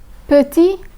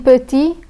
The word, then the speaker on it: petit: Petit, huit. Petit, huit. The final T in petit is silent, but the T in huit is pronounced.